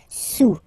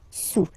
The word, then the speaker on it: sous: Don't pronounce the final S, and then this OU combination of vowels is pronounced OU. Okay, sous, sous.